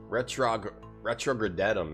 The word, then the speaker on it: RetrogradeTom: Retrogradetum, it's pronounced, Dr.